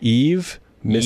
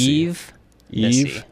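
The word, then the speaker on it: Yves Missi: I should have asked about name pronunciation. Is it Yves Missy? Eve Missy. Eve Missy.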